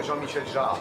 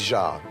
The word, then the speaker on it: Jean-Michel Jarre: It's more Jean-Michel Jarre, but Jarre is okay. You know, this is the kind of French name, maybe difficult to pronounce for you, but it's Jarre, Jean-Michel Jarre.